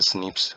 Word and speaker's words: SNPs: बोलता है, single nucleotide polymorphism बोला जाता है, pronounce as स्निप्स occur in human.